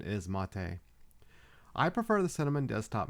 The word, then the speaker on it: MATE: spelled m a and you might hear it pronounced as mate but I do believe the correct pronunciation is mate I prefer the cinnamon desktop mainly because it